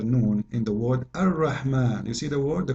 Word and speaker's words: Ar-Rahman: So if we say Ar-Rahman in the Quran, it's coming the alif very short, but you hear me pronouncing the alif. Ar-Rahman. Ar-Rahman. This is not a fatha only, it is a letter.